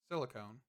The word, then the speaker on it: silicon: I know somebody was trying to say that I was saying it wrong, by the way, and I do know that. I forget words half the time, but it is silicon.